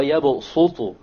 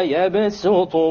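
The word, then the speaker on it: يَبْسُطُ: It is to tell you that it is preferred to pronounce it with a seen. So you don't say wallahu yaqbidu wa yabsutu. You don't say so. Rather you say wallahu yaqbidu wa yabsutu wa ilayhi turja'un.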